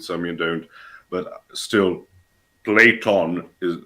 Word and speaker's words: Plato: you don't, but still, Platon sounds much cooler than Plato. Notwithstanding, of course, that in American dialects you pronounce it as Play-Doh, right? Because Right. Play-Doh. So that is one of my pet peeves with English, making names sound much less cool by removing the N.